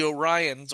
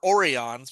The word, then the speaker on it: Orion: first appearance about that the Orions or Orons is they never explained who screwed up the pronunciation or why did they kept calling them orans in the original orans just sound wrong.